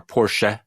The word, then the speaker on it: Porsche: We have to pronounce the E. So there you go. Germanophiles, Schadenfreude. The car, Porsche, not Porsche.